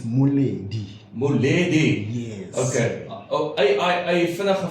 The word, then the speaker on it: Moleli: That's how you write it, but when you spell it, it's Moleli. Moleli.